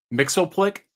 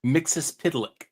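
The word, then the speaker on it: Mxyzptlk: here yeah all right I've heard two different ways to pronounce the name that you've been having issues with Mixel Plick or mixus pck you know the second one sounds like it does more Justice to the four final consonants they're both from uh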